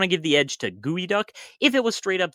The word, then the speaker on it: geoduck: It's not geo, it's not duck, and it's certainly not geoduck, but then why is it?